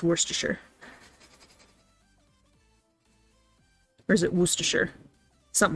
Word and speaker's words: Worcestershire: like that because more most people would say like war chest or shy or something like that but it's like worcestershire you kind of barely pronounce that first r right there i'm not